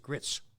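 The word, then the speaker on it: Gritz: jim greitz who actually made a lot of headlines as they pronounced it grits but he became later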